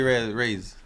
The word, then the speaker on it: Reyes: Rays. Yeah, Reyes. No, Raise. You'd say Raise. Yeah, they sound like Raise.